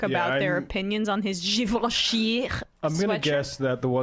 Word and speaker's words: Givenchy: Givenchy. I did not know how to pronounce that. I thought it was Givenchy.